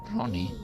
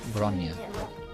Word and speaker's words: Bronya: Ronnie? Something doesn't sound right. I'm not pronouncing her name like the way Alexandra pronounced it. Then, is it Bronya? Or Bronya? Yes, Bronya. That sounds more like it.